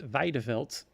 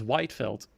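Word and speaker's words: Wijdeveld: Well, if you want to pronounce it fully Dutch, you'll have to pronounce it Weideveld. But the most Englishified I can make out of it is Whiteveld. So wide as in wide, not small or narrow. And veld as in field without an I.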